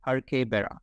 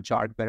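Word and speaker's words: Jarque-Bera: a har Bara test this is pronounced her Bara not jar bar or jaru Bara it's her Bara test now the P value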